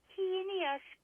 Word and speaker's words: heinous: And, of course, the no stones unturned for the heinous crime. That word drives me nuts. To the entire planet, the word is heinous, especially TNT journalists. Yeah. H-A-Y? I mean, just pronounce it that way.